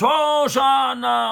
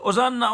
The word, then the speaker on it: Hoshana: Hoshana, Hoshana. Que les non-juifs, ils ont traduit, c'est intraduisible, mais ils ont gardé la prononciation. Ils ont dit Hosanna, Hosanna.